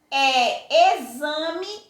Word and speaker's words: exame: São palavrinhas que são escritas com X, mas na hora que eu pronuncio tem som de Z.